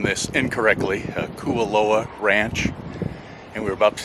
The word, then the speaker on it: Kualoa: This is pronounced Kualoa.